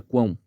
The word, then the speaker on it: quão: analisar palavra por palavra Observe aqui a palavra Quão como ela é formada por uma consoante com som q uma semivogal chamada V que é o som de u uma vogal nasal e finaliza também com o som de semivogal Val o que significa